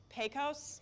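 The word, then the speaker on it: Pecos: Max size on that was uh baseball it's pronounced posos N I tried I learned a lot about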